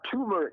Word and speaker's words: turmeric: You just peel a turmeric name, There's an R in there. No. T-U-R, turmeric. Yeah, that's what I said, but you not pronounce the R. You pronounce the R after the M.